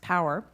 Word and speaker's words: PWR: priorities for weather research or pwr pronounced power report is a complex